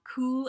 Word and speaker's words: cow: Coo is C-O-W. It's the word cow. But you can see how that's part of that whole vowel shift. If O was never pronounced ow back then, but ooh, then coo.